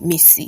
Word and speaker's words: MiCi: that you call me missy this is spelled myci and pronounced a myssy that's right if you need a pen grab one m-i-s-s-y that's how you pronounce me see if this is